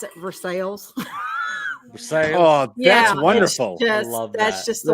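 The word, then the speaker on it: Versailles: that we live in yeah if it's it's versaille but kentuckians pronounce it for sales that's wonderful that's just the way it is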